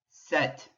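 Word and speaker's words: sept: that cease set set do you notice what letter you're not hearing that's right you're not hearing the p but you are hearing the t again of the latin influence on the pronunciation set wheat wheat h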